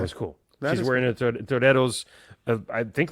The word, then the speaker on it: Toreros: And I noticed she was wearing, I'm going to do it in the Spanish pronunciation, Toreros jersey, which is Spanish